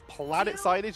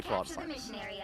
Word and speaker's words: Plant Signage: It is planet signage even though it's spelled plant signage and they're running groups so it's fun to say plant signage.